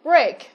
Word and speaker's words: break: Với break, có phần gạch chân đọc là A. Vậy thì nó sẽ khác với những từ còn lại là clean, deal và teach. Vậy thì những từ còn lại sẽ đọc là E, long E.